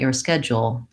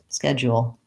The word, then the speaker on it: schedule: at schedule schedule schedule sorry I have a tendency to use the more reduced two syllable version and the more stretched out version that may be easier for you there's a little bit of a option for something in between the two schedule schedule schedule schedule